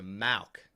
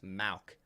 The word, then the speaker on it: Mauk: so uh malc oh so malc not mock it's Mauk gotcha I'm gonna mess it